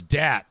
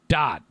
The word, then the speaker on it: Dat: __ ] uh jason says pretty sure it's dat not dot no he pronounced it dot jason it was spelled dat d-a-t but he spelled it dot i mean he's pronounced it dot i said